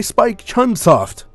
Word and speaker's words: Spike Chunsoft: by Spike Chunsoft. I think is how you pronounce it.